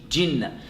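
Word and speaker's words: جِنَّة: There's a kasra under the jim, otherwise you might pronounce it Jannah. No, it's Jinnah.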